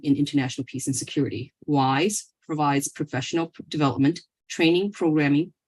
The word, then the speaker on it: WIIS: the board for Women's National Security which is pronounced wise as well as the CEO and founder of